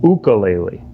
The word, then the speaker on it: ukulele: has told us that i was saying ukulele wrong it's an ukulele so just for those who